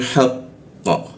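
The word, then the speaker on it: حَقَّ: Nah, huruf tasdid itu harus kita baca dulu tasdidnya. Jadi, jangan dialirkan ditasdid dulu, ditahan ditasdidnya baru di ee pantulkan keo. Jadi, cara membacanya adalah lahumul haqqo ya. haqqo seperti itu. Kalau tidak ada tasdidnya maka dibaca langsung haqqo ya haqqo. Tapi karena ada tasdidnya kita ee tahan dulu di tasdidnya haqq seperti itu.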